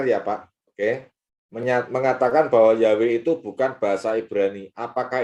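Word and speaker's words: Yahweh: Yod he W lah kalau Yod he W bacanya gimana Ya yahwe sudah gak ada lain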